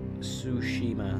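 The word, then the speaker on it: Tsushima: game ow okay then ghost of is pronounced sushima okay sushima Ed for one on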